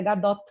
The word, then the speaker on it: Gadot: ela é muito engraçado, tem gente que chama ela de Gadot. Eu não sei se pensam isso por conta de alguma coisa francesa e tal, mas é Gadot mesmo, a pronúncia em hebraico.